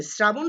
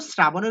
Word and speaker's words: শ্রাবণ: শ্রাবণ শব্দের সঠিক উচ্চারণ তালব্য আছে, কিন্তু তালব্য থাকা সত্ত্বেও শ্রাবণের উচ্চারণ তালব্য দ্বারা হবে না, দন্তস্ব দ্বারা হবে শ্রাবণ।